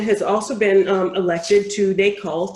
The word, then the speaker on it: NACOLE: Brian is the immediate past president of the National Association for Civilian Oversight of Law Enforcement, NACOLE. Is that how we would pronounce it, Brian? NACOLE? NACOLE, yes.